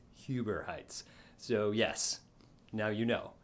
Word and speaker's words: Huber Heights: moved to this area i would say in hoover heights it's huber heights so yes now you